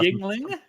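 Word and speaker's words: Yuengling: It's not spelled like how you would pronounce that.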